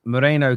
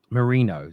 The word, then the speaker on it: Merino: about the theory that Moreno coming in Marino sorry I keep saying it wrong I don't even know